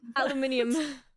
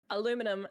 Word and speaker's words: aluminium: And I was like, "Oh, yeah. It's written in the the American way." Damn it. It's written in the American way. We say in German, guys, aluminium, I can't have kebabs, so I'm out of this conversation.